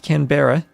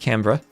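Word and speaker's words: Canberra: uh been told by many Aussies it's not pronounced Cber the way it might look. It's pronounced Cra the same way Melbour Melbourne is pronounced Melbourne.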